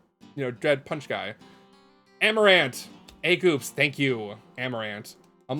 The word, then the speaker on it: Amarant: and the first character is I'm going to butcher the name aramont Aron not araman arumat I can I remember